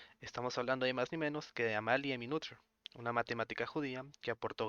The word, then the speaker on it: Amalie Noether: Se trata de la mujer llamada Amalie Minuther, que se pronuncia como Amalie Minuther, ya que esto es en alemán.